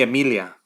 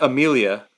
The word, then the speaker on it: Emilia: I told her like I want our daughter's name to be Emilia, not Amelia, Emilia, Mm-hmm. and I want her to say her name Emilia, right? Like not Yeah, Amelia, not Amelia.